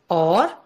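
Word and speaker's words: hour: have a vowel sound, or the letter H is silent. We use an before such nouns. For example, in the word or, the H is silent. It begins with a vowel sound a.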